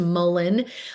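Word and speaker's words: mullein: herb that's known for uh respiratory health is mullen. It looks like malay it's pronounced mullen.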